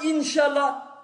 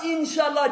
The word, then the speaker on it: inch Allah: ça veut dire quoi inchallah ne dis pas inchallah dit inch Allah prononce correctement le nom